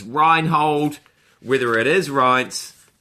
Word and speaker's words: Reince: This guy is in charge of the Republican Party, and I believe it's pronounced Reince Priebus. Rhymes with Heinz.